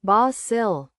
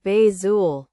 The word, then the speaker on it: basil: In a British restaurant, it's basil. In an American one, often bazool.